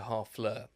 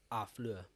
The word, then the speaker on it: Harfleur: And then we come to Harfleur. Harfleur. Yeah. They don't pronounce the H. Don't they? Harfleur. It'll be Harfleur. Henri. I think it's Harfleur. They don't pronounce the H in French.